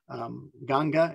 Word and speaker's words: Ganga: right on the river ganges ganga is how they pronounce the name of the river there the the excuse me